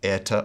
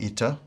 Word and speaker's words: eta: In the Erasmian pronunciation, this is pronounced as an AI sound, as in air, air, air. According to the modern pronunciation, this is more like the I sound in spit, I, spit.